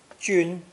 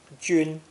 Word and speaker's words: 君: This character is pronounced first tone. Jun, Jun.